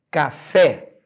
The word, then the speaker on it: café: acentuado olha de novo café repara a última cabra que eu escrevi foi a palavra fé e não por acaso a palavra café fé é a sílaba tônica a sílaba tônica caiu